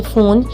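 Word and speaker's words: phone: Next हमारे पास PH है, PH word फ की साउंड देता है, तो यहाँ पे मैंने एग्जांपल यूज़ किया इसकी फ़ोन।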